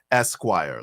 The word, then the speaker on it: S-Quire: Vibe, the pronunciation is Esquire, like the magazine.